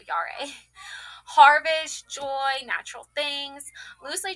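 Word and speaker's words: Jera: Pronounced Yari, Yara, Yara, Yare, Yare. There we go, Yare.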